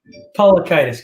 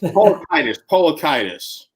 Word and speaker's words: Paliukaitis: Paliukaitis, close, Matt. Paliukaitis. Sounds like laryngitis. Paliukaitis.